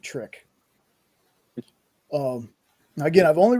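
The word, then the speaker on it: Tryk: It's another class of vampire called a trick. T R Y K. So I just pronounced it trick.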